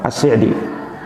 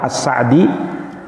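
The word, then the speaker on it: السعدي: Syekh Abdurrahman IBN atsir AC di ya AC di itu dikasroh korupsinya Sebagian ada yang membaca dengan ashadi jadi ada yang membacanya Syaikh Abdurrahman as-sa'di ada juga Syaikh Abdurrahman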